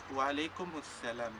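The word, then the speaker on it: وعليكم السلام: Y después, si alguien te dice Salamu alaikum, vosotros le tenéis que decir Wa alaikum salam.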